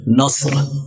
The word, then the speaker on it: نصر: لیں۔ ایسے ہی ایک اور لفظ ہے نصر، نون صاد اور را، نون صاد اور را۔ اب نصر کو صاد کی جگہ اگر سین پڑھ دیا جائے، نصر، صاد کو صحیح طریقے سے عربی لہجے میں ادا نہ کیا جائے، نصر ایسے نہ پڑھا جائے، نصر پڑھ دیا جائے تو اس کا مطلب ہو جائے گا گدھ۔ گدھ یعنی یہ چیل